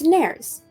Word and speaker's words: nares: these two holes is nares it's helpful to know that the word rhymes with fairies um that is true